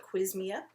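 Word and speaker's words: Qsymia: to be quiz Mia you shouldn't be allowed to put an S right after a cue there should be a u in there so I know how to say it I'm gonna go with quiz Mia um so the fens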